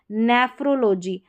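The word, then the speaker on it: nephrology: देखिए जियोलॉजी जियोलॉजी यह है नेफ्रोलॉजी पीएचआर को फ्रॉ करके पढ़ा जाता है।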